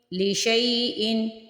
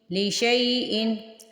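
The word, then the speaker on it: لِشَيْءٍ: جوڑ کیسے کرنے ہیں۔ لام زیر لی، شین یا زبر شئی، لی شئی، حمزہ دو زیر ان، لی شئی ان لی شئی ان۔ یہ ضروری نہیں ہے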